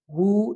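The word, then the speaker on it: who: उसके बाद है डू you know हु knock at the door. तो यहाँ पे नो में के है और हु में जो है डब्ल्यू है।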